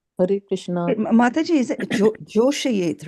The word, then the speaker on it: जोषयेत्: It looks like the English word yet. Joṣayet. Right? Yeah, it is not pronounced as yet or yet. It is ye. Yet.